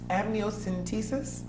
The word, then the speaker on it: amniocentesis: Liza from Bloomfield asks what is amnios amniocentesis is that the correct pronunciation yes am what do it done